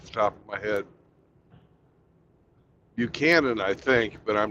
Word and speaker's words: Buchanan: James, I don't know the correct pronunciation. James Buchanan, Yeah, it's Buchanan.